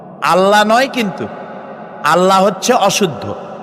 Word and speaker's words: আল্লাহ: কি গুণাবলীতে বিশ্বাস আল্লাহর নাম আল্লাহ বলেন তো আল্লাহ নয় কিন্তু আল্লাহ হচ্ছে অশুদ্ধ শুদ্ধ হচ্ছে আল্লাহ